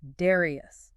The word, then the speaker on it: Darrieus: The second vertical design mentioned in the sources is the Darrieus rotor. That's d a r r i e u s, pronounced Darrieus.